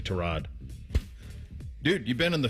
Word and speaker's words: Tyrod: It's kind of like the Tyrod Terrod thing. Remember when he did that? Yeah. Tyrod Taylor like Browns camp is like, "Yeah, it's actually Trod."